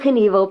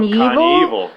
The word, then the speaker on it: Knievel: which was his wife, with the caption, "Evel Knievel proves that you're never too old to be a pimp."